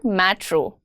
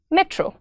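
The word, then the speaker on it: metro: हाउ डू you pronounce मेट्रो? Alok says मेट्रो। इट्स नॉट मेट्रो। इट्स मेट्रो।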